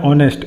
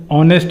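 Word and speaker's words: honest: उसका हम देखते हैं उच्चारण है, एक बॉबल साउंड है, यानी बॉबल साउंड क्या होता है, ए ई आई ओ यू, या हिंदी में आ से आह तक जो होता है वो हमारा स्वर होता है, उसको हम बॉबल बोलते हैं। तो यहाँ बॉबल साउंड है, ऑनेस्ट मैन, तो ओ का उच्चारण आ रहा है यहाँ पे, तो हम भरेंगे यहाँ पे एन।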